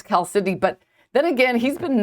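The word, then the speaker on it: chalcedony: I heard it pronounced Calcidoni. And I'm like, "Oh, this person must know what they're talking about." So that's what I called it. And then he's like, "No, it's Cal Sydney."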